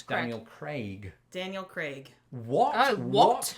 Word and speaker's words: Craig: Okay, so the Daniel Bond actor, Craig. still Craig. haven't seen any of those Craig, films, they shame should, on me. No, I But can I say pronounce Clark. his name, It's Craig. Daniel Craig.